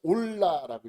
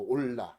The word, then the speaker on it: 올라: 여러분 요거를 뭐라고 읽어요? 올라라고 읽어. 올라. 히브리어로 올라.